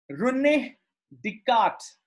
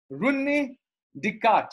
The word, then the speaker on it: René Descartes: Note down the pronunciation. René Descartes. Okay. I know in school and in so many places, people mispronounce this guy name, French mathematician, René Descartes.